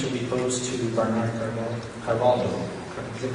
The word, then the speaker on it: Carvalho: Moving on to the fourth question, which will be posed to Bernard Carvalho. Is it Carvalho? Carvalho. You got it. You got it, guy. Mine's, so that's spelled.